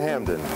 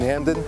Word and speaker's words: Hampden: For unknown reasons, the P in Hampden has never been pronounced. Some 200 years after its birth, Hampden is booming.